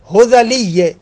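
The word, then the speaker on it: هذلي: بھلے فرماتے ہیں کہ آغا سیبویہ نے حزلیہ، یہ اس کا تلفظ ہے حزلیہ، سیبویہ نے حزلی کے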